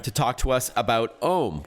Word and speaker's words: Ome: I wanted to invite you on to the program to talk to us about Ome, which is spelled O-M-E, so it's like home without the H.